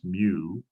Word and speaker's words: mu: We use the little Greek letter, looks like a U, it's pronounced mu.